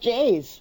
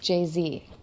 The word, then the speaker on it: Jay-Z: Hi, I'm Betty White, and I'm hosting Saturday Night Live this week with musical guest Jays. Oh, actually, Betty, I'm sorry. I think it's pronounced Jay-Z.